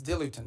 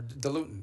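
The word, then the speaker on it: diluent: the things they need is dilutin or dilutin depending how you want to pronounce it.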